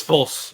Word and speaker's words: Fulce: False. Yes. It's pronounced false, but I've been called